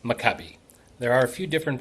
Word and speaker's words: Maccabi: So, the word is pronounced makabe. There are a few different pronunciations out there, but you did a great job, Don, with with the pronunciation, but it is pronounced makabe.